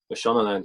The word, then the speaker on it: Mashonaland: And I hope I'm pronouncing the club correctly. Mashonaland? Mashonaland, yeah.